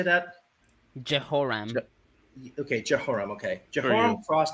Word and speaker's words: Jehoram: Jehoram.